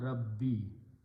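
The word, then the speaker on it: ربي: But for the pronunciation, we pronounce this as a Kasra Rabbi.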